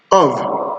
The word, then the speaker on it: of: The second is v, as in save with letter V, of with letter F. That's the only word where you find letter F pronounced as v, of.